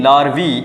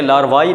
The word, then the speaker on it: larvae: लार्वा plus E word would be लार्वी, LARVAE. लार्वी पढ़ा जाता है, इसे लार्वाई नहीं पढ़ा जाता प्लूरल्स के अंदर.